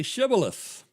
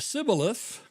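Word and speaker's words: Shibboleth: And if he said, "No," they would say, then they should would say to him, "Now say Shibith." But if they said Cibilith, for they could not pronounce it correctly.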